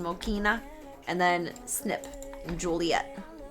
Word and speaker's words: Joliet: And then Snip in Joliet. And Joylet, because it rhymes with toilet.